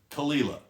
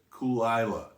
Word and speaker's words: Caol Ila: with but this one this is definitely talilah not what brian cox says brian cox calls it cool isla now it does come